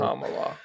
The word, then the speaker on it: Kamala: name and I'm like no it's Cala think of calm down Cala calm just tell that to people Kamala cuz when people be like Kamala I'm like no no it's Kamala I thinka Kamala and